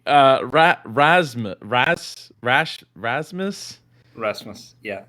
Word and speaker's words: Rasmus: it was oh yeah yeah how do i pronounce it it's um it's rasmus rasmus rasmus okay so so and i and